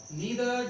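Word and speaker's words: neither: इसको आइदर और नाइदर नॉर भी बोल देते हैं। सब प्रोनाउंसिएशन में कोई ज्यादा वो नहीं रहना है आपको, दोनों ही यूज करते हैं।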